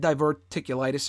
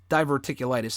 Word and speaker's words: diverticulitis: cuz he you know, he had diverticulitis or diverticulitis is what it's pronounced actually.